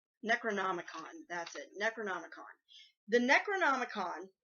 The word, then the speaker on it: Necronomicon: I can never pronounce this right. Necronomicon.